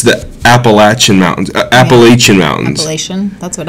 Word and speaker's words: Appalachian: can say it wrong anymore but it's the Appalachian Mountains Appalachian Mountains that's what I would say and appellation that is wrong it's called the Appalachian Mountains